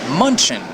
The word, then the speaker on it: Munich: right behind me munchin it's spelled m u n c h I in munchin isn't that interesting I like munchin it's got real pep by the way Munich is